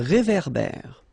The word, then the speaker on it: réverbère: Final E not pronounced. Un ré. So here you've got this accent aigu et, and then here you've got this accent grave é. Okay, et é. So it goes like réverbère.